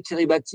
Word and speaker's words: Kiribati: En 2019, Île Salomon et Kiribati, alors ça s'écrit Kiribati, mais je crois qu'on dit Kiribati, ont retourné leur veste